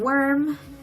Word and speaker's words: worm: And worm is almost like the particle o, but you add the w in front, so wo, wo. Gets softened because of the r.